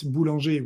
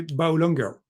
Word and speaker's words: Boulanger: It's actually the difficulty is when I'm in the US because I cannot pronounce it Boulanger, which is the French way. Mhm. So I have to say Boulanger.